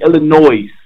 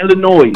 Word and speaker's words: Illinois: Chicago you kept saying Illinois it's not Illinois it's Illinois Illinois cousin said it annoyed you kept saying Illinois I love you bro but the S is silent my man spell Illinois